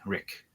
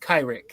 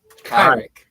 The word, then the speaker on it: Kyrick: It's pronounced Kyrick. Your characters. Kyrick. Okay, gotcha. I missed the Kai part. I got the Rick part. It's like saying Kyrie. It's like saying Kyrie in Kyrie with it at the end.